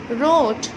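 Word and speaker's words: wrote: रोट, यहाँ पर भी W का साउंड नहीं है।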